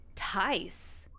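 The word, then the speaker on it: Tijs: Tice? Tice. Tice. Is that Norwegian? What is that? Dutch. It's Dutch.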